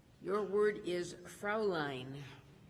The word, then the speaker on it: Fräulein: Your word is Fraulein. Fräulein. FRAULEIN. Fräulein. Correct. You pronounced it better than I did.